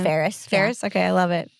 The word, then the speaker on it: Ferris: to the part where Ferris freaking a or Fris, how do they pronounce that? They said Ferris.